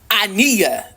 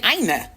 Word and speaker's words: Aina: But they're like, no, Mecca, you're saying like Ania, like Ania. But I'm like, no, I'm saying Aina. But I think it's an accent thing, a pronunciation thing. I think I'm saying her name correctly. I know it's the Aina, like with the I, like it's, and then sorry.